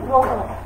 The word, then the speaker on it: গ্রহ: দেখো একটা নিয়ম লিখলাম, শব্দের শুরুতে যদি রফলাযুক্ত ব্যঞ্জন বর্ণ থাকে তাহলে সেই রফলাযুক্ত ব্যঞ্জন বর্ণের আদ্য অয়ের উচ্চারণ অয়ের মতো না হয়ে ও এর মতো হয়ে যাবে।